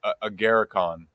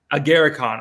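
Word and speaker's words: Agarikon: I am I saying that right yeah okay agaricon agaricon okay so I I mean me personally I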